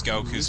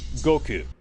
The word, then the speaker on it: Goku: Yeah, and it's not, the thing is, it's not pronounced the way it is in the dub in the Japanese version, I'll give it that. But the way the dub pronounces it is a hell of a lot closer to the Japanese version than the way Kaiser pronounces it. Right. Because in the original version, it's like, Goku. Oh god, all these gentlemen. Goku. Son Goku desu. Goku. It's not like a K-E-W.